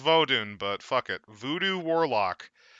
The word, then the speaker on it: Vodun: I know it's pronounced Vodun, but fuck it.